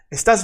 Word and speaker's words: estás: And remember that estás has this little tilde, this little line accent on the A. Because the accent is on the second syllable to the right.